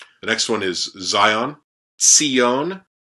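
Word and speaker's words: ציון: So it's a tzade, right? So tzi, and then the hirik yod, right? And then the yod has a dagesh in it, right? So you're going to doubly pronounce that. So Tzion, Tzion.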